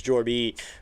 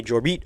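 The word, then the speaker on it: Jorbit: You can't just say his name as Jorby. You got to say Jorit Vivas. There's no other way to say it.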